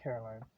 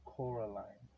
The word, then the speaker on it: Coraline: met her you see Caroline Miss said getting Caroline getting oh okay okay okay I get it she call her Caroline but it's actually Coraline okay so she got her name wrong so she's explaining both